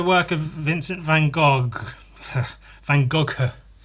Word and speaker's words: Van Gogh: Van Gogh. I think that's how it's pronounced. Should I Google it? Van Go. Yeah, I was right.